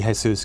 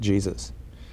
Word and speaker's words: Jesus: He's always, everyone, although it should be Jesus, because that was in recognition of the Mexican half of his family, everyone always pronounced it Jesus.